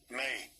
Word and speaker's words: me: May. it's spelled M-E, but it's pronounced like M-A-Y.